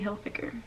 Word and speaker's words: Hilfiger: I never knew it was Tommy Hilfiger. Never. But now I know, thanks to you guys. So, thank you, I guess, for calling me out and telling me the right way to say it. Tommy Hilfiger.